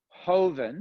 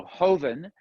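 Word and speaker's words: joven: in a second um hoeven it's it's spelled j-o-v-e-n but in spain they don't pronounce j as a j they pronounce the j as an h so hoeven if you see hoven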